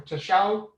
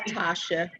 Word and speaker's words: Tasha: Is it Tasha or Tasho? It's Tasha. Is it Tasha?